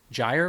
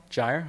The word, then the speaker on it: gyre: And now we have, and that's actually an open question, Gyre or Gyre? It's from Jabberwocky. What is the right way to say it? I don't know. Gyre? Okay. I was wrong.